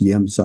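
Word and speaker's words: Емца: It's spelled it begins with an E, but it's pronounced Yemsa, I understand.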